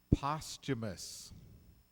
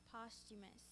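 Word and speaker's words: posthumous: g h n correct postumus the novelist postumus Works became his most popular ones postumus postumus p o s t m o u s postumus there is a silent h in there p o s t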